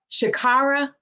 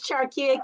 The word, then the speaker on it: Charkia: It's Charkia. Good morning. Well, good afternoon. Shakira, I butchered that. I apologize. Shakira. Charkia. Got it. Do you have a nickname? They call me, but it's Charkia. Charkia. It's with Charles.